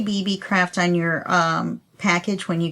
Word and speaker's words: BeeBeeCraft: it's spelled b-e-e-b-e-e-c-r-a-f-t just like it sounds BB craft and um all the